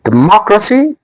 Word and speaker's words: democracy: telepathy democracy The stress is on ma. When I say democracy, it means the sound of ma has to be highlighted or made noticeable.